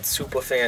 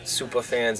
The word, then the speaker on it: Supah Fans: brand in boston called superfan streetwear superfans is misspelled with a boston accent so no r it's s-u-p-a-h-f-a-n-s it identifies our customer tells you